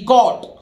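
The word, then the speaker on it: caught: अब देखिए सी ए यू जी एच टी, कॉट, ठीक है, यहां भी जी एच साइलेंट है, ये कैच की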